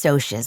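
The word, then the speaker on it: Socs: Diane Lane, Leaf Garrett, and Darren Dalton became Sosas. Sociases, pronounced Sosas with a long O, but you likely knew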